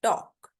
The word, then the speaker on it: talk: टॉक में L silent है, टॉल्क नहीं होता, टॉक होता है, टॉक।